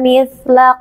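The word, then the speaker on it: مثل: Mith, sin sukun harus ditekan membacanya. Mith, jangan sampai dipantulkan. Mith, salah ya. Yang betul mithla qawlihim.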